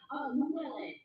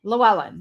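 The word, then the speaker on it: Llewellyn: Llewellen. Llewellen.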